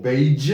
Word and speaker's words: beige: We don't say garage or beige.